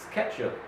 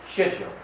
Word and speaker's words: schedule: so that's the difference now this one in the American is schedule the British schedule the next word is